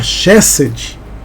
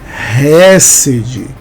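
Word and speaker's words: Chesed: também a quatro que você fala chessed mas nessa Cecília número 4 O correto é falar resid ch tem um som de R também um erro que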